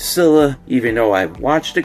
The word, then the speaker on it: Scylla: Kong: The New Empire Skyla figure or Scylla, however you prefer to pronounce it. Um yeah, I prefer to pronounce this as Skyla.